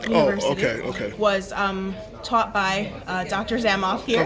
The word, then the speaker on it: Zamoff: Zamoff. And spell it.